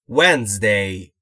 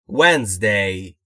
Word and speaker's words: Wednesday: همونطور که دارید مشاهده میکنید میبینید که دی در Wednesday خونده نمیشه و ناخواناست. Wednesday. Wednesday.